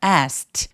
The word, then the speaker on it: asked: K, t음, th어지는 소리도 자음. 다음이 이렇게 많을 때에는 첫 번째 단어의 맨 끝에 t를 삭제해 버리고 발음을 안 하는 경우가 많아요. 그래서 연음으로 I ask the clerk. I asked the clerk. asked the clerk. 이렇게까지 발음하지 않고 어떻게 한다고요? ask the clerk. 요렇게 소리 내 주셔야 자연스러워요.